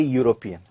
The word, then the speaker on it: European: and european there because e u r o p e a and european when pronounced it gives a consonant sound that is y u y is a consonant so he's a european here european okay right